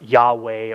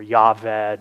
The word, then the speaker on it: Yahweh: Divine name um or Yahweh or yave depending on who you hear pronounce it yet this identification is